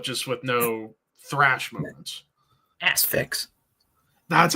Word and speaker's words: Asphyx: Acefix will forever be my number one. But, oh, yeah. And Hooded Menace is Finnish Asphyx, but just with no thrash moments. Asphyx.